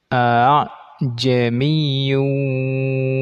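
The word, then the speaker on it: أأعجمي: Pada alif itu dibaca seperti hamzah ini terbaca panjang, padahal sebetulnya itu ada dua hamzah yang punya harokat. Jadi dia bacanya a'jamiyyun wa 'arabi gitu.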